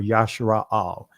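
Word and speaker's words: ישראל: Jacob's name was changed to Israel, or Yashara'al, right? So here's Yashara'al.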